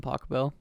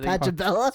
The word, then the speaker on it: Pachelbel: John Pachelbel. Is that how you say it? Pachelbel, not Pachelbel.